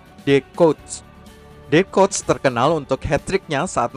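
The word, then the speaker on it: Kuyt: coba membacanya yang benar bukan bukan Deep cuts pronunciation yang benar dari mantan pemain Liverpool ini adalah cheat code ada sedikit es di akhir tapi tidak terlalu kuat decotex d'cotz terkenal untuk head triknya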